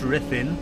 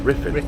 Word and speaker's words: Ruthin: Riffin riffin U in in Wales is pronounced I it's like the L is pronounced though.